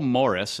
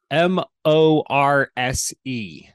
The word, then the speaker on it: Morse: be talking about samuel morris and that was my name in morris code so first off i love that i love the pronunciation m o r s e you really think morris not morse so first of all